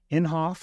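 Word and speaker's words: Inhofe: by the senator from Oklahoma MH James n inhoff is that the way you pronounce his name yeah and it's a pretty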